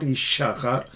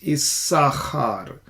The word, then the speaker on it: Issachar: Yishachar, you're not going to pronounce this letter Shin. Issachar, actually, it's not Ishachar, it's Issachar. So this is a sin with a dot on the left, and there is a dagesh.